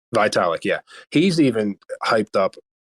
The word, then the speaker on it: Vitalik: now what's the uh founder of um ethereum italic vitalik yeah he's even hyped up um ibc and